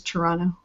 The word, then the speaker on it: Toronto: especially from Ontario you'd never say the second D is Toronto yeah oh early on and early on in life I would say Toronto and then later in life I thought I had to pronounce that second te so now saying at Toronto you can be lazy with it it's absolutely fine um yeah so I